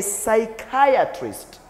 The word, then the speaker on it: psychiatrist: psychology we have a psychiatrist psychiatrist Irish pay attention to this word we say a psychiatrist psychiatrist psychiatrist psychiatristite a psychiatrist good